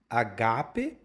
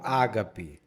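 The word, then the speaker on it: ἀγάπη: A primeira coisa, você sempre pronunciou a gape com a tônica no gá ou você era daqueles que falavam ágape?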